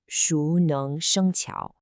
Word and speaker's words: 熟能生巧: We pronounce it Shú Néng Shēng Qiǎo.